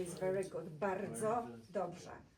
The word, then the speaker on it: bardzo dobrze: Bardzo dobrze is very good. Bardzo dobrze. Try to roll your R when you pronounce that.